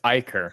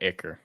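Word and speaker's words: ichor: damn it anyways and it's Iker not icker he shut up yet that is how you pronounce eicher at least from mythology that's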